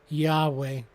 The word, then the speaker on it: Yahweh: word is pronounced nowadays we tend to add an A and E for verbal capacity turning the word yhwh into Yahweh but Scholars have noted